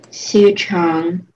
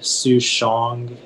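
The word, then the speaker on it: souchong: have language margin please yeah it's from chinese su chong can i have heart speech please oh it's a noun um are there any alternate pronunciations yeah it can be pronounced su chong soo shong and soo jong si chang um can you repeat the word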